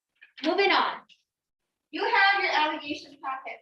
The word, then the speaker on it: alligation: You have your allegation packet, right?